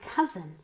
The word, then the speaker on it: cousin: pretty he very beautiful my cousin c z z my cousin actually look at my